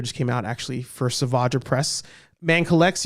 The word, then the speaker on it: Savage: There's a scene where, and the figure just came out actually for Savage Press. Man Collects, you said his name wrong. You said Savage, it's Savage.